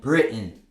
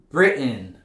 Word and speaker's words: Britain: You can still say mountain, kitten, and Britain. That's 100% correct. But in spoken English, most Americans don't pronounce it like that. They'll rather replace it with this glottal stop.